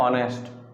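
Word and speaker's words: honest: एम ऑनेस्ट, आई एम ऑनेस्ट, ठीक है। H silent रहता है, ओ का आता है इसलिए बोलते, ओ की जो साउंड आता है पहले।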